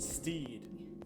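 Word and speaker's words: Stead: be a quizzing yeah his name's pronounced Steed like me both of them before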